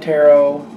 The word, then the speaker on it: Tarot: For the main part of the read, I'm using the Tarot. I believe the H is silent.